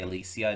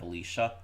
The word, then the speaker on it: Alicia: Um, I that's how she actively pronounced it. So, I'm going to say Alisia instead of Alicia.